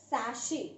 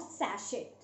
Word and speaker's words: sachet: Pronunciation is sachet, not sachet.